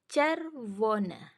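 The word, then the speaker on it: czerwony: lanjut ke yang ketiga CZ e czer woni tulisannya tapi di sini CZ CZ itu c c w itu jadi v y itu jadi e e e sor y itu jadi e jadi cervon cervon Oke lanjut ke yang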